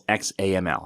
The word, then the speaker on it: XAML: Then we have app.xaml window or main window.xaml, which XAML is XAML. That's how you pronounce XAML.